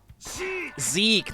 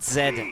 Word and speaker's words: Zeke: わいのことを知らんやとほんどれどこのドライバーやわいの名は Zeke, not Zed. I said it was Zed yesterday. No, it's Zeke.